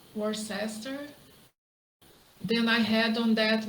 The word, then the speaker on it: Worcester: lucky better luck on his flight from uh worse Worcester then I had on that miserable aisle it